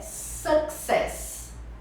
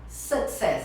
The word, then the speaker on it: success: A pessoa fala o U com som de U. Sucesso. O som é de A. Success. É igual Success. but, suck. E você tem que pronunciar os dois Cs. Então você fala success. Success. Success. E a sílaba forte na primeira, é a primeira sílaba.